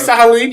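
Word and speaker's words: Saharin: You said it right. Sahalin. You got it right. Sahalin, and then obviously, which sounds like vaguely Russian.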